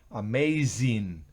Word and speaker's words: amazing: and meaning Amazing Amazing fíjense que es una Zeta Amazing no es Amazing sino es vibra vibra la z asombroso significa Amazing Anger